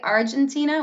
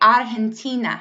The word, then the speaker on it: Argentina: one we can say odd and Tina so it's pronounced like a huff in this sense so quietly you can